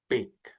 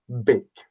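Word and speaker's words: beag: Bake. Simply meaning small. That G is more like a K. Bake.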